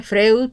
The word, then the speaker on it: Freud: Se escribe Freud, pero se pronuncia Freud, ¿sí?